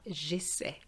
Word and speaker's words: j'essaie: However, when you want the je form, the Y disappears because we don't need that sound. So we're just going to have j'essaie. J'essaie just with an E, which is silent.